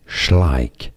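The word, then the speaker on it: Schleich: Google that how do you say this one schlik schlik is how you say it schlik and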